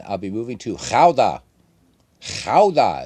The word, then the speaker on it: Gouda: Gouda is how you say the cheese, and that's also the name of the city.